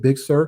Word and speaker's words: Big Sur: they're doing with the new os is it big sir i think that's how you pronounce it yes yes i i love big sur like there's a lot of people um there